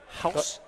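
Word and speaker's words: Gouws: with my Afrikaans pronunciation I now know that g-o-u-w-s is House close sorry close on house so HG delonger on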